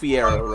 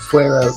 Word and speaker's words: Fuero: I feel like she said Fiero wrong there. I'm pretty sure that Fuero makes sense as the pronunciation for that spelling.